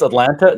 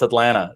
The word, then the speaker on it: Atlanta: So the second T is silent, such like in the city that I live in, Atlanta. So yes. People think it's Atlanta. No, it's Atlanta.